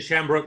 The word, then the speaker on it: Shambrook: Did I pronounce that right? Shambrook? Yeah, you did. Shambrook, that's it.